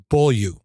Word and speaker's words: Beaulieu: So everybody, I'd like to welcome Chevy Beaulieu.